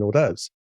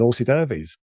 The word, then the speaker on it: hors d'oeuvres: there'll be drinks and hors d'oeuvres? Because fools and horses, suddenly, and as I said it, I knew I was saying it wrong. I said, "There's drinks and horsey derbies."